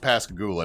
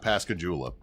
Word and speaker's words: Pascagoula: And they were talking about the Pascagoula, which by the way, it's pronounced Pascagoula, not Pascagoola.